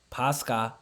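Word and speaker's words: πάσχα: Pascha, pronounced in the Greek, okay?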